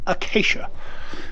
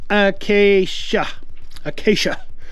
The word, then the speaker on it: Acacia: I don't know how to pronounce that. I better go find out. Acacia. That's a K sound. Acacia.